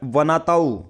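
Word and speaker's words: Vanuatu: एक वनाताऊ एक island country है, कौन सी है, वनाउतू। ठीक है, अपने हिसाब से इसको प्रोनाउंस कर लेना, वानूतू।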